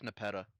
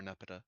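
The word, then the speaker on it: Nepeta: That's Nepetta or Nepetta, depending on how you want to pronounce it.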